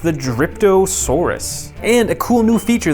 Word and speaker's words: Dryptosaurus: a chomping action here is I believe it's pronounced the dryptosaurus and a cool new feature that Mattel is